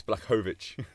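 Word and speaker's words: Błachowicz: We figured it out. It's Blachowicz. Blachowicz. Blachowicz. No, because he's not Russian. That's the isn't that He's the Polish.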